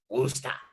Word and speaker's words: Worcester: He was like, it's Worcester.